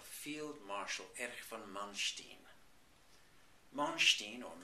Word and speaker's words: Manstein: Manstein, or Manstein, as he would be pronounced phonetically over here, is one of the classic examples of what Hitler did unexpectedly to break his mold.